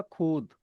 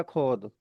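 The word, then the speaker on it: خود: तो यह हो जाएगा खुद खुद या खोद दैट इज रॉन्ग खुद पढ़ना है इसे खुद लिखा हुआ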